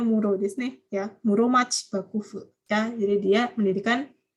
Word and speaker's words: Muromachi: Muromachi, ini bacanya Muro ya. Bacanya jangan Shitsu ya. Shitsu ini dibaca Muro ya, minasang kalau belajar kanji ya.